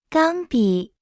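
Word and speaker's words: 钢笔: 钢、钢、钢笔、钢笔、钢笔、钢笔、钢。 Se pronuncia con el primer tono.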